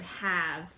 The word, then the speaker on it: have: are three sounds in the word have have but there are 4 letters when we spell it so then we have to remember that the e is a heart because there are there